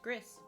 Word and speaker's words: Gris: there why I picked Gris for today and that's how I call it is gris I know it it could be pronounced like gree and other things but I call it Gris which is absolutely beautiful